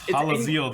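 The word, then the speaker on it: Hallazeal: So it's Hazel the Ascended, isn't it? Well, first of all, your pronunciation of that is terrible, but it's Halaziel the Ascended.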